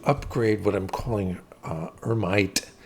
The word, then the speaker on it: Hermite: what I'm calling uh hermite that's the French pronunciation of hermit um is uh what